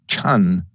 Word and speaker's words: Chan: term Jannah meditation self-absorption the Chinese pronunciation is Chan Zen devolved in China